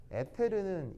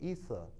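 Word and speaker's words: ether: 그래서 이제 이상한 그 이서 이론이라는 걸 만들었었는데 에테르는 일본식 발음이고요. 이서 진유르 이서 시작. 만수르 이서. 뭐냐면 아니 뭐 여기 있어 이게 아니고 자 이거 이게 이제 일본식으로 읽으면 에테르 에테르 알겠어요? 근데 영어식으로 읽으면 이서 여기 이제 이렇게 알겠죠?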